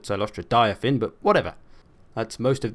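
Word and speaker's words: Cylostra Direfin: My lord is Silostra Dirfan, as she pronounces her name, although I call it Silostra Diafin, but whatever.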